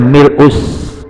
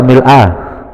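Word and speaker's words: مِلْءُ: Mil'us samawati, bacanya mil'us. Mil'u apa mil apa? Mil'us samawati apa mil'a? Ayo, bingung nih. Mil'us samawati. Kalau mau dibaca mil'a boleh nggak? Nah, nanti diomelin orang ahli nahwu.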